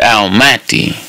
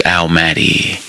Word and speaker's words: Al-Mahdi: His name is Lamonti, which rhymes with Al-Mahdi or Al-Mahdi, which rhymes with Almighty.